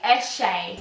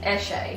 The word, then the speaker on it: Eshay: Eshay. Eshay. Why did you say it like that? Why are you saying H? That's H-A-Y.